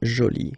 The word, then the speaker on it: jolie: get Jolie okay so you can see that you put this but then you don't pronounce it okay so it's Jolie so basically the two